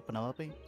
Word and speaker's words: Penelope: Is that short for Penelope? Officially, yes, but I never can be bothered with all four syllables of it.